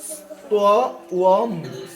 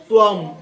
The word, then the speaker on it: ত্বম: এই যে উ উচ্চারণ করতে হয়। এটা হলো দন্তেশ, এটা হলো ত, আর এটার জন্য কি উচ্চারণ করতে হবে? উ। আর অনুস্বর জন্য ম। তাহলে এটাকে যদি আমরা শুধুমাত্র এটাকে যদি উচ্চারণ করি, শুধুমাত্র এটাকে যদি উচ্চারণ করি তাহলে কি হয়? ত্বম, ত্বম কি? ত্বম, ত্বম কি হয়?